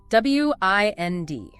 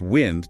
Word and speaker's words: wind: First, the moving air, pronounced wind to rhyme with send. A windy day. Got it. Wind sin. Second, the verb meaning to wrap something around or to turn a key or handle. Pronounced wind to rhyme with find like winding a watch or winding yarn.